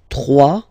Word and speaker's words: trois: Trois. Final s not pronounced.